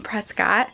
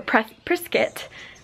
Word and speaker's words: Prescott: my aunt lives in Prescott or pressed brisket I think is how they pronounce it here and so that's like